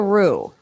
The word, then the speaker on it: roux: Make a roux, boo.